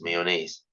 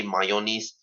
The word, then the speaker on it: mayonnaise: By the way, this word, for the love of God, is pronounced as mayonnaise. Okay. Do not, I repeat, do not ever say mayonnaise.